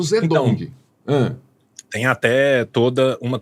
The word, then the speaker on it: Zedong: corrente de pronunciar porque na escola me ensinaram Tung e hoje eu ouço zedong Hã Tem até toda